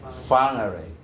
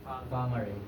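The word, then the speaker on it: Whangārei: Wangari is pronounce m far fangare. Fangaray yan means resting place or safe encouraged.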